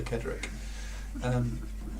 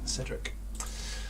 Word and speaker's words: Cedric: you mentioned it yes you did say kedrick that's not how to pronounce it cedric and where was dumbledore's